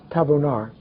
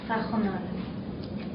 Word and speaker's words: Tajonar: Tabonar. Is that right? It's Tajonar. Tajonar. Tach. Yes. But it looks like a V, but it's pronounced. Oh, it's a J.